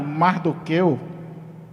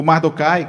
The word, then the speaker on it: Mardoqueu: pai de ester um homem chamado mardoqueu o mardocai como você queira pronunciar e esse homem foi